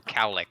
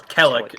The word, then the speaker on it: Kellic: No, I didn't know who Calic was. It's Kellic is how I pronounce it.